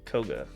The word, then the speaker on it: Koga: It is pronounced Koga. Like the gym.